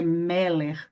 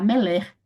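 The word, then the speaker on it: מֶלֶךְ: Por isso que você não vai falar meler, é meller, tá bom? Dê um ênfase aqui no primeiro, meller.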